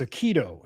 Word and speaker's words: Aikido: I have production in my ear telling me it's Aikido. So, I'm getting the pronunciation wrong company that I have a crush on.